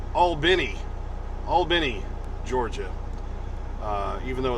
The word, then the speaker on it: Albany: told me it's pronounced albini albany georgia uh even though it's spelled a-l-b-a-n-y where you'd probably say well that's albany well like albany new york but apparently down here it's all benny yeah today is the